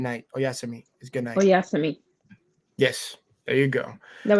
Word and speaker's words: oyasumi: Oyasumi. Oyasumi. That's how you say it. Good night. Oyasumi is good night. Oyasumi.